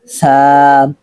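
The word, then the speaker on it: ث: তার মানে বুঝতে পারলাম আমরা সা বলার সময় অবশ্যই আওয়াজটা দুর্বল হতে হবে এবং চিকন ভাবে বলতে হবে সাম কফ লাম তা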